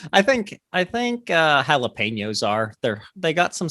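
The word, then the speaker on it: jalapeño: or meat like i like that so the jalapeno i think you're pronouncing it wrong jalapeno yes my bad the the jalapeno is somewhere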